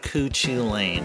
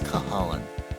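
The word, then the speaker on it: Cú Chulainn: But his name looks like you pronounce it as Cuchu Lane. It's not Cuchu Lane, it's Cahalan.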